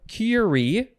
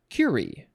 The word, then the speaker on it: curie: word virile v-i-r-i-l-e okay next we have curie or curie emphasize either syllable it is a noun from 1910 i think i will say curie yeah emphasis on the first one that's how i like it number one a unit